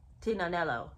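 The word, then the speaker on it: Tignanello: after this Italian wine Tina nello now I don't even know if that's the right pronunciation but I do know the g is silent in that word so the fact that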